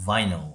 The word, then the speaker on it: vinyl: 그 비닐도 원래는 비닐인데 발음기로 보면 vinyl이에요. vinyl.